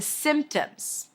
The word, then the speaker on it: symptoms: All of these things happen to you when you get sick and those are the symptoms. Symptoms. Well, there is a P there, but you don't have to pronounce it.